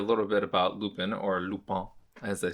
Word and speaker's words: Lupin: i learned a little bit about lupin or lupone as they say in the show but i'm saying lupin because i'm american and we mispronounced stuff all the time so lupin it's uh so i i mentioned lupin the